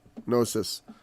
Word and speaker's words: gnosis: gnosis with a gnosis I think the G is silence but I use sometimes I'll say gnosis but uh it means knowledge it's very similar to our word knowledge it's just got a silent G instead of a sound k um and and that